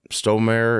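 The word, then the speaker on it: Stormare: Gabriel in it and then um Peter uh stonemere is how you say his name he played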